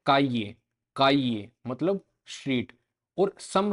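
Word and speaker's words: calle: हैं particularly Argentina, Uruguay और सम regions Spain के, उनके अंदर जो साउंड रहती है डबल एल की वो रहती है जो जे की जेली के अंदर रहती है, जेली के अंदर जे। तो जावे, जावे की, जामा, जामा मतलब फ्लेम, काजे, काजे मतलब स्ट्रीट।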